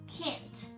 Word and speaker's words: can't: we say they cannot can't can't but actually I didn't pronounce t at all I just stressed